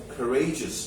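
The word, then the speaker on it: courageous: এখানে এইটা থেকে যাবে কারেজিস বলো উচ্চারণ কি কারেজাস ভেরি গুড আবার এখান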